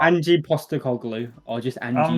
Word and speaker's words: Postecoglou: I always want to say Petroglou. Yeah, like the Fulham player. Yeah, I don't know why. Postecoglou. I'm not far off, am I? Angie Postecoglou, or just Angie.